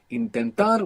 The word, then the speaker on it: intentar: Intentar, we have the accent on the end.